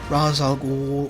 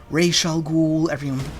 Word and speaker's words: Ra's al Ghul: So you have him training alongside Ra's al Ghul, or Ra's al Ghul, everyone pronounces it differently, so do the films.